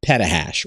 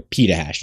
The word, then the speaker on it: petahash: That would be 2 petahash or petahash, depending on how you say it.